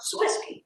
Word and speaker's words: Swisky: I went to OTS, and my roommate over there toward the right, her name was Jennifer Swisky, rhymes with whiskey.